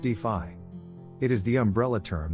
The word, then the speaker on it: DeFi: decentralized finance is also known as d phi pronounced d5 it is the umbrella